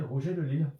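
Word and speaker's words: Rouget de Lisle: Roger de Lill. Mais l'île avait euh Lî là ne s'écrit pas comme on entend. C'est L I S.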